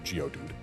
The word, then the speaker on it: Geodude: And if it's geode dude, which, I mean, it would still be pronounced geodude.